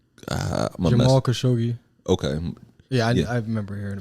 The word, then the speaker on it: Jamal Khashoggi: How do I pronounce? Jamal Khashoggi.